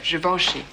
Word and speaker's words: Givenchy: However, you're probably pronouncing its name wrong. You're wearing le deux, Givenchy. Is how it should sound.